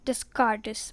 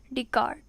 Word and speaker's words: Descartes: and then you will if you pronounce it will become like an Rene disc artists but it is not this Curtis it is Rene Descartes decart okay Rene Descartes 1596